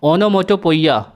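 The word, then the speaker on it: onomatopoeia: ओनोमोटोपोइया, ओनोमोटोपोइया, ओनोमोटोपोइया, इसकी स्पेलिंग भी लर्न रखिएगा दोस्तों, इनकरेक्ट स्पेल्ड वर्ड में एसएससी ने कई बार इसको पूछा है।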